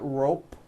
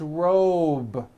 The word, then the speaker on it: robe: ending same thing with robe also has a voiced b ending it's not rope with an unvoiced p it's robe okay let's go over